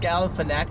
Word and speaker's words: Galifianakis: How do you pronounce this? Zach Galifianakis.